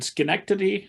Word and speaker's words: Schenectady: gonna i'm gonna mutilate this with my indiana pronunciation schenectady new york you got it company that uh